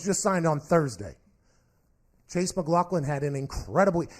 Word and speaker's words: McLaughlin: McLaughlin had him incredibly is it mcLaughlin that's how they kept pronouncing it mhm I think so McLaughlin McLaughlin but in my head I would pronounce that mcLaughlin I don't know I might be wrong I'm assuming the people